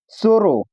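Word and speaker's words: zorro: अगला नियम दिया है जेड के बाद अगर ए आता है या ओ आता है या यू आता है तो उसको भी हम लोग स पढ़ते हैं। उच्चारण करते समय जो साउंड निकलता है वह स का होना चाहिए।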